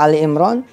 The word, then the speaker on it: Ali Imran: Ali Imran tuh dibacanya Al Imran, bukan Al Imran. Tapi tapi bukan Al Imran, tapi Ali. Ya. Ali Imran, surah Ali Imran.